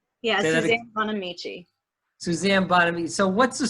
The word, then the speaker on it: Bonamici: Yeah, Suzanne Bonamici.